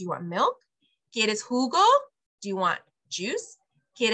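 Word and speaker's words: jugo: the H is silent the J makes up for it and it goes huh so Hugo who go or who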